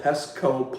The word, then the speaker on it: Pestco: There's a place in Garland, Texas called Pestco Pumps, almost like Petco.